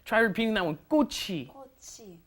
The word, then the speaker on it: 꽃이: Make sure your pronunciation is 꽃이, right? The chi moves up into the in front of the e, and that's a hard 기억 on there, right?